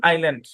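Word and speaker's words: island: ধরাবাধার কোন রুল নাই ডেব্রি বর্জুয়া আইল আইল আইল্যান্ড তারপর শব্দের শেষে টি সি এইচ থাকলে টি সাইলেন্ট আচ্ছা তারপর শব্দের শেষে এস টি ই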